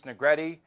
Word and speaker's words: Negretti: Tony Cardasco, John Castanino, Matt Gutierrez, Rick Strasser, Negretti, rhymes with confetti, Haley Brooks with Haley's comments, and the gang is all here, produced by Richard Jacobino.